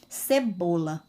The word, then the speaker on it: cebola: Vou aqui colocar um exemplo da palavra cebola. Olha só, cebola. Qual a sílaba mais forte que ao pronunciar a palavra, ela tem mais força? Vocês ouvem mais o som dela. Cebola, a sílaba bo.